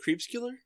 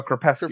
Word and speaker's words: Crepuscular: So how do you pronounce it? Creepscular? Oh, Crepuscular.